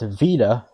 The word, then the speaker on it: beta: In modern Greek, beta is now pronounced vita, and delta is pronounced velta.